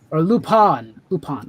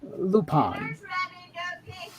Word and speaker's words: Lupin: had one exactly fine i thought it was lupine i think is actually how it's supposed to be pronounced right lupon thank you my mom's